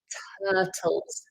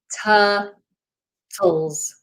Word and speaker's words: turtles: You won't see them in the UK, but I thought I'd mention turtles. Turtles. Turtles. We don't pronounce the R.